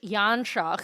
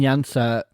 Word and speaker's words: Janša: Um and Janša, I'm using the English pronunciation of that.